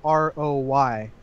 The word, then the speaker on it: Waugh: Like Patrick Waugh, his last name is Waugh, but it's Roy, but it's pronounced like Waugh.